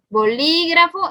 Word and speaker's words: bolígrafo: Bolígrafo es un ejemplo. Vamos a ver, último, penúltimo, antepenúltimo. Entonces sí, es correcto.